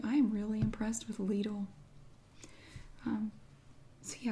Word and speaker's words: Lidl: anyway that is everything I got today at Lidl and that is how it's pronounced I confirmed it so if you don't